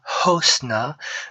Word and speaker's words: hosna: Pour il, on dira osna, tandis que pour elle, on dira hosna. Donc il y a un H expiré.